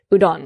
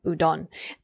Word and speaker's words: udon: Kitsune or udon. Udon. Okay. I'm saying it wrong. Udon.